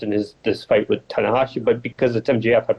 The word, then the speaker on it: Tanahashi: Japanese guy what'd you say his name was tanakashi tanahashi Hiroshi tanahashi yeah I mean I don't know